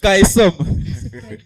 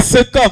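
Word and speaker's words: caecum: J'ai entendu Kaesom. C'est Secom, ça se prononce Secom. Et ensuite, il a donné une mauvaise réponse. C'était le Secom. D'accord? Secom. C-A-E-C-U-M. C'est pas Kaekom. Secom, ça se lit Secom.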